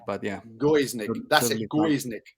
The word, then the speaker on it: Gojznik: are going to be talking today with guznick Gus Nick yeah it's hard it's hard to pronounce it it's like it's pronounced goes Nick but yeah go is Nick that's it right we are here today with